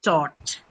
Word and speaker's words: taught: the word caught and then the long O as you hear in the word taught.